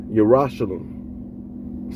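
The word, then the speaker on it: ירושלים: In the Hebrew, the word Jerusalem is pronounced Yerushalem, city of peace, which means city of peace.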